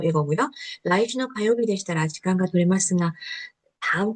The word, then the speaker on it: 取れますが: 라이즈노 가요비 되시다라 시간과 도레마스가 다음 주 화요일이면 시간이 될 것 같은데요. 이런 표현입니다. 해볼게요. 고래와 これはご丁寧に。来週の火曜日でしたら時間が取れますか。 도레마스가, 도레마스가, 네, 도레마스가인데요. 도레마스가 이렇게 이런 발음이 돼요.